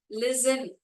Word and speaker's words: listen: listen, T is silent.